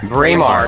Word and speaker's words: Braemar: Braemar Country Club.